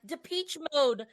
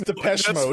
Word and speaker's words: Depeche Mode: This is a Depeche Mode situation. You said it wrong both times. INXS. Is that in excess? In excess. In excess. I would never know that. And it's Depeche Mode.